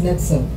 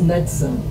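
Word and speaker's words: NXIVM: Mary, and it's pronounced Nexum. Excuse me. They actually represent Roman numerals, but it's pronounced Nexum.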